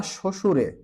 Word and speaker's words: শ্বশুর: option গুলোর ভিতরে ব ফলার উচ্চারণ হবে না শ্বশুরে দেখেন উচ্চারণ করলে কিন্তু বুঝা যাবেন অশ্ব অশ্ব এখানে